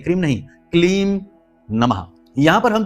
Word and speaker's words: क्लीम: यहां पर ह्लीम है, ह्रीम नहीं, ह्लीम, ह्लीम, ह्लीम, श्रीम, क्लीम, यहां पर क्रीम नहीं, बहुत से लोग क्रीम कहते हैं, क्रीम नहीं, क्लीम नमः।